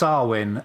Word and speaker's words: Samhain: of all right thus our win or Samhain as it's spelled I'm looking at the